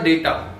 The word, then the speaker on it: data: ये इसकी spelling DATA है, लेकिन इसको डाटा नहीं पढ़ना है। डाटा बोलते हैं बहुत से लोग, इसको डाटा नहीं कहते, इसको डेटा कहते हैं।